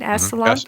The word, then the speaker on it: Esalen: Yeah, and it's a wonder why they have to go to this Silicon Valley or this Esalen. Is that how you say it again? Esalen. Esalen.